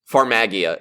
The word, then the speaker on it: Farmagia: Farmagia is how they're pronouncing it.